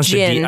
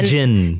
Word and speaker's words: jinn: And the, or jinn. I always pronounce the D on that. You don't say the D. The jinn.